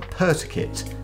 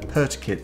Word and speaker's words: PRTUKYT: the 9s wireless headphones from pertikit that's spelled prt uk yt so i think i'm pronouncing that correctly but i'm gonna be